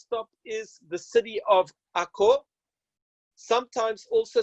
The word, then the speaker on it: Akko: is the city of Akko sometimes also spelt a CR e Accra but I'm using the Hebrew pronunciation for the city yeah this is the city of Akko it's a unesco world